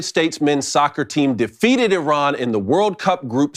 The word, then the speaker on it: Iran: This pseudo-journalist first corrected Adams, citing his country is pronounced Iran, not Iran.